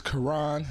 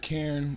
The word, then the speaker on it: Quran: you need to clarify this for the world pronounced your first name my first name is Quran not Karen coronor none of that